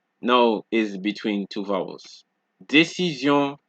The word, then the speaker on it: décision: And we have that zion sound once more, because remember what we said in a lesson earlier, when an S comes between two vowels, it gives you a Z sound.